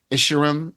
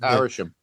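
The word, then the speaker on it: Arishem: taking out u how do you say his name? Isharim. Ashar. Yeah, it's Arishim.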